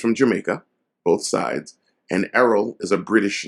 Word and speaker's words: Errol: is only one L as well e-r-r-o-l remember arrows yeah so and just like Arrow Flynn the